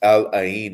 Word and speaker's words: Al Ain: And then June 23rd, Manchester City against Al Ain of United Arab Emirates.